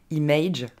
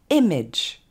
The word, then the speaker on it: image: On ne dira pas image, mais image. Ok, ici c'est deux fois le son et qu'on retrouve, donc c'est très simple, et l'accent tonique tombe sur la première syllabe.